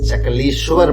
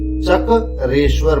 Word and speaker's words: चक्रेश्वर: हम का जाते हैं दिस इस एन मिस प्रोनाउंसड डी नाम विच वे से इस चकली स्वर महादेव आईटी इस चक्र ईश्वर महादेव ये तो पहले चक्र